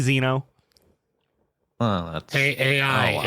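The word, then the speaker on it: Xeno: spells your name more often with a z Zeno oh that's a AI it's spelled x e n o Zeno x n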